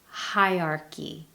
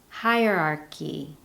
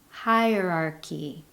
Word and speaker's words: hierarchy: Hierarchy. Hierarchy. However, the correct pronunciation includes 4 distinct syllables. Hierarchy. Hierarchy.